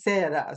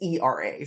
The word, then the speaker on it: Sara: But my name is Sara. And unfortunately, Sara means plate. But I don't, but that's not the Japanese pronunciation, is Sera. So it's Sera. So like I'm misspelling my own name. hmm. Okay, it's fine, but it's pronounced correctly if I Sera.